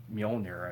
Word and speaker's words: Mjolnir: So it's like, and he still doesn't have Mjolnir, I believe is how you pronounce it.